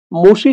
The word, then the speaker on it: মশি: ছিড়েপত্র না ছাড়ে মশি এখানে মশি শব্দের অর্থটা একটু বিশেষভাবে মনে রাখতে হবে তোমরা আবার অনেকে তাড়াহুড়ো করে মাসিও উচ্চারণ করতে পারো এখানে মশি শব্দের অর্থ